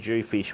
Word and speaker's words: dhufish: We also have our own jewfish, which is spelled DHUFISH.